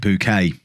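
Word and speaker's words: Bucket: woman whose surname was spelt b-u-c-k-e-t but pronounced it bouquet it's the same thing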